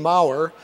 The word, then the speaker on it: Maurer: Our second speaker is Judge Maurer. And Judge, I want you to know the note said it rhymes with power.